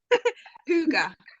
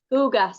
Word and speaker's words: Hygge: How do you pronounce it, Lisa? Hygge. Hygge.